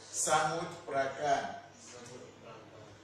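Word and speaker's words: Samut Prakan: Listen to my pronunciation. Samuprakan.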